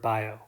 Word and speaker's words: Biot: called the biot-savart law if you have trouble pronouncing this imagine you forgot what sounds the letter T makes and then mispronounced the word by oh imagine you have a